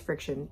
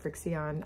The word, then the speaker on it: FriXion: It's actually pronounced friction. It's Frixion, but I've always called it Frixion.